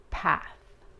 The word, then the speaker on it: path: Path. ¿Ok? La A es corta. No es path. Es path. Path. Y es importante pronunciar la TH, ¿ok?